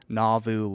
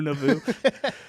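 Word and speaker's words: Nauvoo: ] that's wild young responded by reactivating the navu legion oh God which was the Mormon militia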